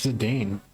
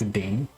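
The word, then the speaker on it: Zidane: And we got a Serge Zedane. Zadam Zedane. Tantalus thief. I think it's Zadane. I'm used to Zinaden Zadan.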